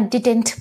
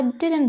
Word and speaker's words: didn't: Again, please learn this pronunciation. I didn't believe him. Ignore the T there. Don't make it I didn't believe him. It sounds very odd. So you could just say I didn't believe him.